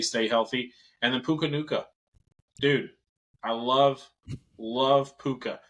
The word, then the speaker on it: Nacua: And then Puka Nacua. Dude, I love Puka. I know I said his last name wrong. But Nacua. Yeah, Nacua.